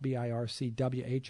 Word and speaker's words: BIRCWH: careers in women's health bircwh i guess it's a silent w this has been in